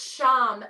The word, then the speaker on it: sham: the chin out along the jawline the seed syllable for this is sham s-h-a-m and i like to hold my hands